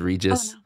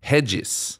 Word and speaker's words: Regis: cringe when somebody says regis no but there are other pronunciations i mean right either righteous or like in portuguese it's really jesus hedges yeah okay so that's